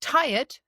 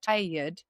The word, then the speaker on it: tired: If I want to use tired, that is actually two syllables. Tired. Tired.